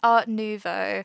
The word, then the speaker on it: Art Nouveau: art Novo I have I've looked up how to pronounce that so many times I'm pretty sure it's art Novo I've been practicing I've